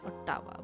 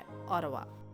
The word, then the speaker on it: Ottawa: तो जो देसी लोग होते हैं वो ओटावा को बोलते हैं ओटावा, बट इसकी सही प्रोनाउंसिएशन है ओटावा।